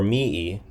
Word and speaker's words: mihi: I don't know if it's mihi or mii. But in any case, nomen here, let's ask. Do I pronounce the H in mihi? Soft H, mihi.